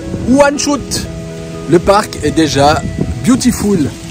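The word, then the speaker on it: Łańcut: Enfin, ça s'écrit Longkut. Longkut? Bah oui. Mais ça se prononce Wanshut.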